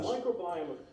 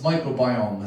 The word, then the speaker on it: microbiome: on politic with that microbiome this is the next guy up is a professor of science microbiome took me a while to pronounce that word it's called microbiom or something but it's microbiome it's a good bacteria